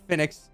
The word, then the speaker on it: Fennix: I'm talking about uh I might pronounce this wrong because apparently it's like a phoenix Phoenix there we go Phoenix